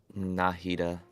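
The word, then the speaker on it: Nahida: Carib bear name card where Fair all right nitaa 609 Elemental Mastery solid nahita yes the correct way to say it 71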